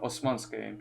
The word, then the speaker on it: Osman: empire it's called the osmansk so it's the empire of osman so like oz the man but it's spelled with the s africa and eastern europe